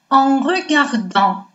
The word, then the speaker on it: en regardant: Следующую строчку мы с вами прочитаем как «en regardant». Тут правило чтения мы уже все с вами знаем. Буква сочетания «эн» дает нам носовой «а», «т» на конце не произносится. Поэтому звучит как «en regardant».